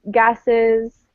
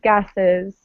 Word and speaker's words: gases: plural words right like gases uh i don't know what you said gases something else remember you always want to pronounce the es right not just gas gases okay and this number is 160.